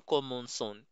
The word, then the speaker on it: commençons: Kasi, pag magbibigkas ka ng mga C sa French, kapag ang susunod niya na letter ay A, O, at U, ang bigkas mo dito ay hard C, like ka, ka, ko, ku. Pag C naman, ang sunod niya ay E or I, ang basa mo dito ay S.